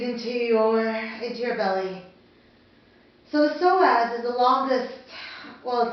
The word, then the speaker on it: psoas: So today's session will be all about the psoas, P-S-O-A-S, but pronounced psoas.